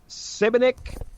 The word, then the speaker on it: Šibenik: Born in 72, Šibenik, Croatia, Yugoslavia. Then it becomes more of a. I think we pronounce that as a bit more of the SH Okay. when you extend the S in Croatian.